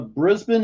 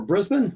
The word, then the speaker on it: Brisbane: But I get a pronunci right pronunciation right for Brisbane. I know that. It's not Brisbane. Brisbane.